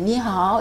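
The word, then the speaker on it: 你好: 근데 이거 하나는 설명할게요. 이게 이가 이 발음이 나는데 가끔은 으 발음이 날 수도 있어요. 요거 하나는 또 명확하게 아셔야지 돼요. 다른 거는 다 뭐 똑같은데 이만은 이 나올 때도 있고 으 나올 때가 있어요.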